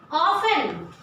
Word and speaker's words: often: Often. O-F-T-E-N. Often. Children, see the pronunciation. O-F-T-E-N. But I am not pronouncing T.